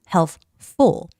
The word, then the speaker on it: helpful: But then when it's combined with another word, for instance, helpful, helpful, normally you don't have to make that P sound.